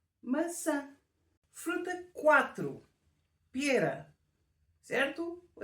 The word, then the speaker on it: maçã: errado Hum vamos ver da maneira como está escrito nós pronunciamos massa que é como pasta mas se escrevermos com um c de cedilha e com um til no último A então vai ser maçã que é o nome